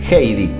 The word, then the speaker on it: Heidi: Bueno, vamos con el último nombre, con el nombre Heidi.